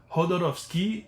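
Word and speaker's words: Jodorowsky: Je pense que Hodorovski se prononce comme ça normalement, mais j'ai un peu une misère à le prononcer comme ça.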